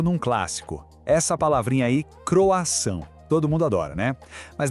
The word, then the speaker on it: croissant: Essa palavrinha aí, croissant. Todo mundo adora, né? Mas na hora de falar, vira uma armadilha. É croissant, croissante.